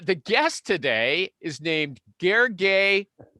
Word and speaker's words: Gergely: too okay uh the guest today is named gargay okay and here's how i'm going to